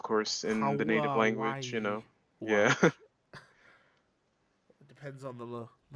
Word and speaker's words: Huawei: considering that when you look at the word, that is totally not, how one would pronounce it. Right. Of course, in the native language, Hawaii Yeah.